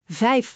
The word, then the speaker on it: vijf: Vijf ... like “five” with an F and soft Dutch V, Repeat after me.